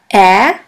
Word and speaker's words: Ä: We call it Ä, Ä, or A Umlaut. A Umlaut. A Umlaut is pronounced like the E in the word melon or in the A of the word H.